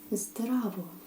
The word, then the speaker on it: Zdravo: If you meet a friend, you will most likely say Zdravo. Okay? I will write it down like this so that you will see it. Z, D, R, A, V, O.